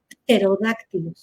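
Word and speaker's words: pterodáctilo: concepto de psicología eh algunas palabras han ido perdiendo las dos consonantes juntas porque ya no las pronunciamos y aprovecho para hablar de actualización de una caricatura que veíamos cuando éramos niños Los Picapiedra Ellos tenían hablaban de los terodáctilo animales dinosaurios terodáctilo Bueno pues ahora la tendencia es a que solamente escribiremos terodáctilo con t sin la p porque no pronunciamos terodáctilo Qué sucede con obscuro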